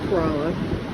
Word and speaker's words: Corolla: kerala and coroba corrales spelled like corolla but it's corolla and that is the